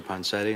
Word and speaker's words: Ponsetti: Ponsetti. Am I pronouncing that right? Yeah, you're recognized for 5 minutes. Thank you, Chair Duncan, and members of the subcommittee. I'm Ponsetti, VP of Operations at CERC, headquartered in Charlotte